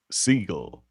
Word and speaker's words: Seagal: been Stephen part of- Seagal's name is actually pronounced as Seagull, but it doesn't sound as tough.